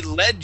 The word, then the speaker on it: led: group or a group If he if it is in past tense if it is in past tense he led you or he or she led LED you to victory okay okay all right